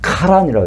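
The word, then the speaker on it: חָרָן: 근데 이제 거기 거기에서 쭉 유프라테스 강을 따라서 쭉 북서쪽으로 올라간 그 지역은 원래 발음은 카란이라고 해요. 거의 K 발음이 좀 들어가야 돼요.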